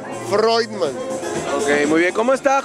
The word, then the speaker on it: Freudman: Mira, se pronuncia Freudman. O sea, en toda mi vida, en mi infancia fue como Freudman, pero ya entendí cómo se pronuncia. Freudman.